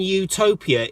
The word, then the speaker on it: utopia: you wouldn't say and utopia even though it has a vowel at the beginning of it because utopia has a Y sound at the beginning which I've found super